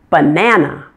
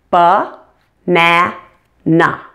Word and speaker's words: banana: with a longer word banana how many syllables do you hear banana you hear three correct ba na na which syllable is the stress syllable banana it's the middle one correct banana now you